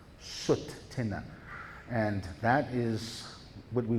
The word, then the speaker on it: Tsuut'ina: So if you can pronounce Tsuut'ina, it's like saying put, but saying soot. Tsuut'ina. Tsuut'ina.